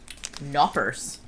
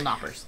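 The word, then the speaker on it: Knoppers: delicious though okay this knockers do you not pronounce the k in german no i don't think you do okay so still knockers nope but it's crispy hazelnut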